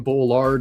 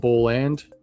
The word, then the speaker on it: Boland: Brian Bollard instead of Boland. So they got the artist name wrong.